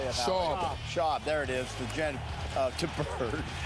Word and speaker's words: Schwab: Schwab.